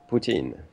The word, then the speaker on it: poutine: Poutine.